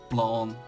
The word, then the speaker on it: Blanc: So, but we have our Systemon, Systemon Blanc, or Blanc, if you want to pronounce it in a French way.